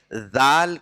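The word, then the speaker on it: ذال: इस डी डाल इसको इसका प्रनंसीएशन डाल होता है डाल ये ऐसा प्रनंसीएशन है जो सिर्फ और सिर्फ अरबी लैंग्वेज में ही पाया जाता है डाल का प्रनंसीएशन किसी भी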